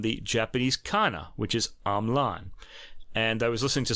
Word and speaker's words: Hamelin: But Russ has discovered a video of Marc-André himself pronouncing his name as Hamelin, like the German town where the Pied Piper comes from.